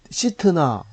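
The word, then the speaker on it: 싯나: 신나라고 그래요. 신나. 우리는 뭐 속상할 때 신나 뿌리고 자살하는데 그런 신나가 아니고, 이 신나는 시트나 이런 발음이 더 가까운데 이건 반대 이런 뜻입니다.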